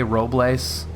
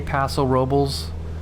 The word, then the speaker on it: Paso Robles: is is awesome yeah that's kind of how it's pronounced you know i mean it's you could probably say roblace but most people will say paso robles but yeah it's there